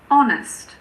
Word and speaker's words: honest: There are also a few words that start with a silent H. For example, air, honest, honor, hour.